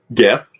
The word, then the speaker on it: GIF: but it's spelled aluminium GIF GIF GIF not Jeff it's not peanut butter guys we're not going to Jiffy Lube uh what's the RuPaul